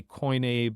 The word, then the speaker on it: Koine: In the Kini Greek, some people say koine, but more accurate pronunciation would be kini, so that's what you're going to hear me say, except when I forget to.